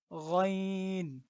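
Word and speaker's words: غين: আচ্ছা, তারপর এটা হলো গইন। গইন। এটার উচ্চারণও আমরা গলার ভিতর থেকেই করব।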